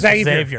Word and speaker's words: Xavier: That's Xavier.